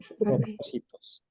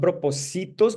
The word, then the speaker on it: propósitos: It's not propositos, because if you say propositos, the stress mark will be here, right? Or the accent would be here.